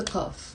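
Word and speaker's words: قاف: No, I always say in the Lebanese dialect, we don't pronounce the qaf.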